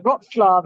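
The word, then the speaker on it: Wrocław: about to head off on a flight to roxlav as I've now been told it's pronounced I've been mispronouncing it all week I've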